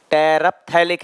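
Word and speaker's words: terephthalic: टेरप्थैलिक है ये, P silent, टेरप्थैलिक acid.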